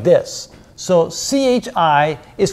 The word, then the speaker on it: chi: data and the equation looks like this so c-h-i is pronounced Chi like the case on so Chi